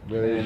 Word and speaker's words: Medellín: Debería ser Medellín. Los barranquilleros dicen Barranquilla. Sí. O sea, es la otra pronunciación.